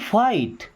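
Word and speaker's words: fight: देखिए अब टी के पहले अगर जी एच आ रहा है तो ये साइलेंट होता है। जी एच। है ना? है ना? जीएच नहीं पढ़ते हैं।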